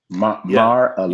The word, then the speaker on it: Mar-a-Lago: Mar-a-Lago.